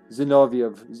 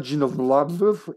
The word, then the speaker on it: Zinoviev: UBCS survivors are exploited by Umbrella's official observer of the situation, Nikolai Zinoviev. It's Zinoviev, it's not Zinovlov, it's Zinoviev. Get your localizations straight, please.